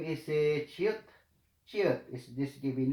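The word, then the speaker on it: 치읓: Given name is chiot.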